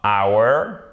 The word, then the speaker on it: hour: On ne prononce pas le H. Vous voyez, vous avez absence du H. Donc, ça nous donnera hour.